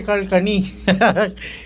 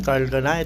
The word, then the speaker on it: Carhartt: Camaro shakur Carl kh tawag ko nga diyan dati Carl cani may carc pero ang tamang pronunciation nito Kasi nagbenta ako nito sa evento What What is carc sabi saakin ng ng Americana ay American Black American sabi niya bro This is si Carl kanay yun Carl kanay natuto nga tayo sa